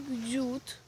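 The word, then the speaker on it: dut: саме головне далі ягода ягода вона читається як дюд А молоко щут щут головне це напутать тому що я по началу тоже казала на молоко дзюд а на ягоду суд це хрестик Ми не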